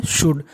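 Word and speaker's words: should: डी को पढ़ते हैं शुड ऐसा ही शब्द है हमारा कुड और वुड आपको याद रखना है जो यहां पे एल है वो साइलेंट है साइलेंट का मतलब एल का उच्चारण नहीं करेंगे शुड शुड का मतलब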